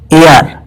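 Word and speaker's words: heir: AR में H silent होता है, इसका उच्चारण होता है AR यानी वावल साउंड, और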